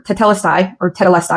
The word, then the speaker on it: tetelestai: It is finished, or tetelestai is another pronunciation I've heard.